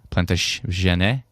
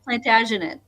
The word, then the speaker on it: Plantagenet: That's not plant jane. Plant jane. Plantagenet. Plantaginet. Yes, there's a he's got to get the ah.